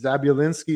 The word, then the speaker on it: Zabinski: man um yeah so Andrew zabinski zabul linski is how you pronounce it um had very